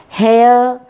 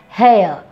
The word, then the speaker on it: hair: is not hair here r is silent okay hair fair care there okay hair fair care there okay air sound is double sound air hair r side not hair not hair hair okay fair fair okay